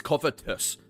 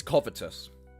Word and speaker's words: covetous: It's Covetus. It's covetous. But I pronounce it wrong. I when I say it out loud, I know I pronounce it wrong and I don't know